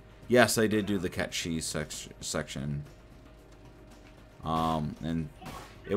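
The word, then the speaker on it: Cait Sith: done but it did whatever hey they said kate sith instead of catchy and the only reason why the name bugs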